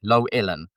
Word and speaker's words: Llewellyn: Uh, my name is two syllables. Low like her expectations of me and Ellen like the mean gay lady from TV. Low Ellen.